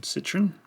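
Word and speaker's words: Citroën: the past the old citroen yes that is how you pronounce it if you're in australia set your inmate have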